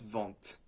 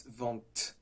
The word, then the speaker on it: vent: So for example, in French, in vent, you have a T at the end, which is silent. You say vent, not vent.